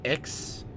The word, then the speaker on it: Ix: So I ended up going with Ix. I think it's pronounced IX at the bottom, just because it